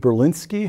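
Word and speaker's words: Berlinski: David Berinsky has taught math, philosophy, and English at universities including Stanford, Rutgers, the City University of New York, and the Univers.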